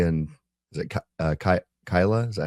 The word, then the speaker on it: Keilah: Uh when he asks God if he should stay in Is it uh Kei- Keilah?